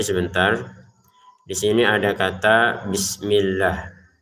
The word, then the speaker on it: bismillah: Kata bismillah ini huruf sinnya jangan sampai kita pantulkan. Jadi karena bismillah ini setiap hari kita ucapkan maka hati-hati jangan sampai salah. Huruf sinnya ini ya beberapa membacanya dengan dipantulkan. Bismillah. Enggak ada di sini pantulan ya. Enggak ada e di sini. Jadi bis seperti itu saja. Bis enggak ada bis enggak ada e. Jadi langsung bismi gu ya.